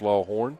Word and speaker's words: Lawhorn: It's spelled Lawhorn, but it's pronounced Lawhorn.